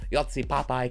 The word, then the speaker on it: Joci Pápai: sorry Hungarian is difficult I'm trying to say Yi papy correctly and people are like no he's saying p a p AJ and like I'm I'm